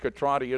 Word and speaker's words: Catrati: And indeed, Catrati is the correct pronunciation. We have found that out in the meantime, which I thought it was.